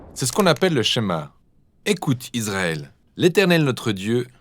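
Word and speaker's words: שמע: est écoutée ou entendre prononcer chemin en hébreu et c'est ce mot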